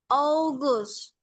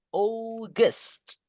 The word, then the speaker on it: August: Palain tepat nih. August. Gusnya un-nya dibaca e. August.